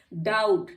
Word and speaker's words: doubt: डाउट, DOUBT, तो T से पहले B आ गया इसलिए B साइलेंट है।